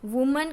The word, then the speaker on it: women: बन जाएगा E, तो वुमन का प्लूरल होगा WOMEN वीमन। देखो बच्चों यहाँ पे आपको खास प्रोनाउंसिएशन में ध्यान रखना है, प्रोनाउंसिएशन पूरा चेंज हो जाएगा। अगर सिंगुलर फॉर्म में हो तो वुमन और प्लूरल फॉर्म में